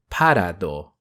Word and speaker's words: Parado: Parado. If names have a certain intention, then I would pronounce it in that way, such as graphite clearly being named after the mineral, though in Japanese he's Gorafaito.